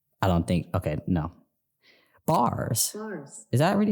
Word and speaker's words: Barres: Bars. Is that really how you pronounce it? Hold on. Nope. Come on. Bars. It's pronounced Bars.